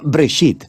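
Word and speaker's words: בראשית: escuchado se llama génesis génesis viene de una palabra hebrea se pronuncia break sit simplemente significa p funcional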